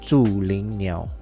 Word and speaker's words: Zhulinniao: Now, the brand name is Zhulinniao, okay? This is the proper pronunciation. I'm not too sure how you guys gonna pronounce it, but follow, repeat after me. I'm gonna repeat this name very often. Zhulinniao.